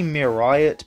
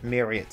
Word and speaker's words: Meeriot: Also, I think pronouncing it as Myriot, Myriot, or anything like that is okay. It should be Myriot, but I find Myriot easier to say.